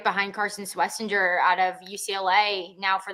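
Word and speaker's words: Schwesinger: Swessinger.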